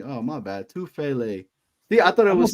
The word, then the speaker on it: Tufele: It's only 3 syllables. We can. You got this. Tefula. Oh no! Chill. I see. I messed it up, bro. I messed it up. Tufele. That's all it is. Tufele.